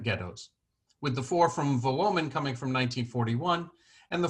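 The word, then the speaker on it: Wołomin: as you may know the W in Polish is pronounced like the English V while the L with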